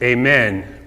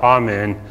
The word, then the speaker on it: amen: and that word is amen or amen, depending on how you pronounce it. It is a Hebrew word, so if anybody ever asks you, do you know Hebrew?